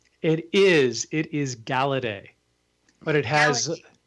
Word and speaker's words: Galaudet: It is It is Galedet, but it has It's French.